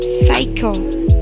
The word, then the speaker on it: psycho: For the example, silent letters P, it sounds like psycho without the P.